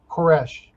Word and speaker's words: Koresh: King of Persia and we can actually call his name koresh right that's just that's how you say his name in Hebrews mm-hmm upon the conclusion